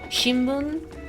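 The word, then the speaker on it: 新聞: They're written with like an M, but they're pronounced with an N sound, like a newspaper, shimbun.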